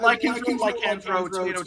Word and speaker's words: Lycanthro: I've got the Lycanthro, or is that how you pronounce it? Yeah, Lycanthro, tomato, yeah, pretty much.